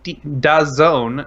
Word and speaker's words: DAZN: Well, the company DAZN, that's D-A-Z-N, and that is pronounced DAZN, wants to interrupt and